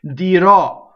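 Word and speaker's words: dirò: Okay, dirɔ. Okay, dirɔ, the future tense ends with the stressed O on the last syllable.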